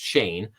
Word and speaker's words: Shan: So prosecutors say that Hanes, whose first name is pronounced Shane, got ensnared in a